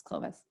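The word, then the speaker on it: Kloves: me on the pronunciation it's not clothes it's Clovis so I'm just putting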